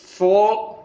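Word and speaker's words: folk: Next, फोक tales. फोक tales, L को silent है बेटा इसमें।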